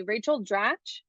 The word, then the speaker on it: Rachel Dratch: Rachel Dratch, I never know how to say her name.